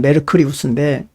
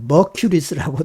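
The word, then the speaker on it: Mercurius: 소금과 유황과 아 수운 메르쿠리우스 메르쿠리우스 고도 하고 머큐리 하고 어 메르쿠어 하기도고 이제 어떤 언어를 썼느냐 발음에 따라서 그렇게 이제 다양하게 부르지만 머리라고도 하고요 다 똑같은 말입니다 수훈을 가르쳐서 하는 말이에요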